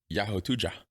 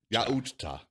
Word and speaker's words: Yautja: I had to look up what they're called and the correct pronunciation. Yeah. I'll go with the Yahotuja. Really? It's Yautja.